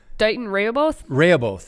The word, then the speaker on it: Dighton Rehoboth: Dighton Rehoboth. Is that how you pronounce That's it?